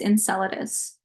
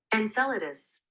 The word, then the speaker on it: Enceladus: to pronounce that um Enceladus okay um give me a second I'm going to search up how to say it okay according to Google it's Enceladus like this Enceladus okay encel The Rock reaches